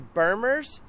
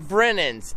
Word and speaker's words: Brennan's: And we're going to go head over here to Bermers. Is that what I said? How do you say it? Brennan's. Brennan's. That's how you say it, guys.